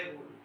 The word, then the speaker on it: rho: Constant कहते हैं ना, इक्वल टू का साइन लगाया, वो यहाँ रो है, रो, इसका प्रोनाउंसिएशन होता है रो, S silent, and this रो is called resistivity.